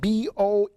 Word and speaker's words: Boeotia: And we know that he died because all the historical accounts, which is recorded, okay, in Boeotia, which is the, it's spelled B-O-E-O-T-I-A, Boeotia, which is the central part of Greece.